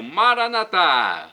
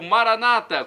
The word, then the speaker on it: Maranata: do aramaico Eu Clamo maranat como dizemos nós católicos ou Maranata como dizem nossos irmãos separados os evangélicos ou protestantes não importa pronúncia